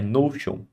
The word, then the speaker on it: Notion: Como é que é a pronúncia? É Notion.